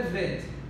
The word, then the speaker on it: Vet: Porém, a tradição oral da língua estabelece duas formas de pronunciar a letra ou de transliterar a letra. A primeira é Bet e a segunda é Vet. Bet translitera com B e Vet translitera com V.